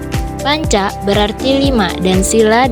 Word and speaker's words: sila: kata yaitu panca dan sila Panca berarti lima dan sila dengan huruf i yang dibaca pendek mempunyai arti satu sendiri dasar dan alas atau asas sedangkan sila yang pengucapannya i panjang berarti peraturan tingkah laku